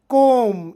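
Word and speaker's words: comb: ಪದದ ಕೊನೆಯಲ್ಲಿ m ಅಕ್ಷರದ ನಂತರ ಬಿ ಬಂದರೆ ಬಿ ಅಕ್ಷರ ಸೈಲೆಂಟ್ ಆಗಿರುತ್ತದೆ ಉದಾಹರಣೆಗೆ ಕೋಮ ಇಲ್ಲಿ ಕೋಂಬ ಎನ್ನ ಬರೆದು ಇದರ ಉಚ್ಚಾರ ಕೋಮ ಅದೇತರಎಚ್ಎಂಬಿ ಗೆ ತಮ್ ಅಂತೇವೆ ಬಿ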